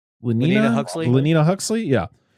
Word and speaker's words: Lenina Huxley: Lenina Huxley.